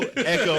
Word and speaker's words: Ico: And I'm like, no one has said the reference for Ico in there, which is Ico, pronounced Echo? Echo.